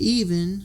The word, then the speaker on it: Evin: They have 2 daughters, Allie, who's 10, and Even, who is 14, and that's spelled Evin.